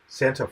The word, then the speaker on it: Santhuff: I'm going to ask you, how do you pronounce your last name? It's Santhuff. Santhuff.